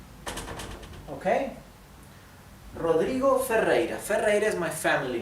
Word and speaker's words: Rodrigo: given name F okay Rodrigo fera fera is my family name good um see how the first R is pronounced R hard R this r in the middle is not doubled it is it's not